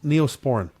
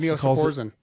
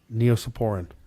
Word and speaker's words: Neosporin: weird hwen ipren yeah my wife mispronounces words all the time all the time she said what the what's that Neosporin oh neopor yeah she calls it that I know how many